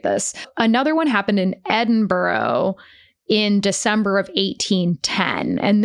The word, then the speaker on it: Edinburgh: And this was like a You got to learn to pronounce that word before we go there. Edinburgh. Yeah, there you go. Edinburgh. Edinburgh. I mean, I'm no expert, but I know it's not borough.